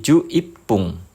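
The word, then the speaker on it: 十一分: 11 menit itu angka belakangnya 1, jadi mengikuti cara baca menit ke 1. Jadi ju ipung.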